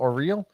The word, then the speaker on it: O'Reilly: how do you pronounce your name? O-R-E-E-L, O'Reilly.